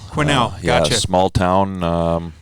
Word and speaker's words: Quesnel: Is it Quesnel? Is that how it's pronounced? Well, the S is silent, and it's Quesnel. Quesnel, gotcha.